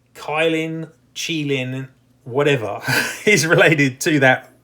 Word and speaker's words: Qilin: creature of Chinese mythology, it apparently is pronounced Qilin in English.